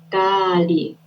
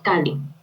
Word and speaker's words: Kali: De hecho, ella se debería llamar Kali, no Kali. De hecho, Sí. cuando la pronuncias nada más con una A, Ujú. estás haciendo referencia a un Al demonio.